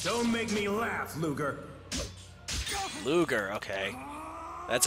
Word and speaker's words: Ludger: Ludger, okay. That's how you pronounce his name. I was pronouncing it Ludger. Ludger. Okay, that makes sense. There's a G in there.